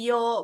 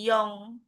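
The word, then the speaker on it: 四: kelas berapa gitu kan kalau 4 itu dibacanya yo bukan yong kalau 9 itu bacanya q gitu G ya.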